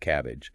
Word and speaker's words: CABG: Coronary artery bypass graft cab surgery often pronounced cabbage is usually not an emergency treatment for an acute MI itself.